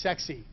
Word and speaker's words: CEXC: This is pronounced sexy.